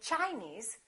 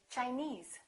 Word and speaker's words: Chinese: ends with es s we stress the suffix for example Chinese we don't say Chinese we say Chinese Japanese Portuguese all right